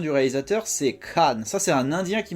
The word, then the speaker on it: Khan: il m'avait expliqué que quand il y a un KH comme ça c'est crâ cr en tout cas prononcé à Lindy.